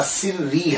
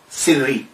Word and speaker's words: سری: ہے وہ کیا ہے۔ تو دیکھیے کہ اگر ان کا نام سر الدین ہے تو پھر ایک پروننسیشن اور مشہور پروننسیشن جو ہے تلفظ جو ہے ان کے نام کا سری ہے، سر الدین سری۔ سر کہتے ہیں راز، سر